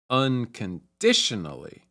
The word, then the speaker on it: unconditionally: it to a Melody the primary stress is on the third syllable and there's also some stress on the first syllable as well unconditionally to set this to